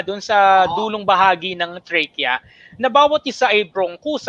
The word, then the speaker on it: trachea: Take note of the pronunciation. Alveoli and trachea. Hindi trachea, ha? It's trachea. It's trachea. Medyo baka kala nila, it's really trachea.